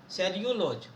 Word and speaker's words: cellulose: सेल्यूलोज, okay, the correct pronunciation is Yes. एज पर the Riddhi सेल्यूलोज, यही correct pronunciation है।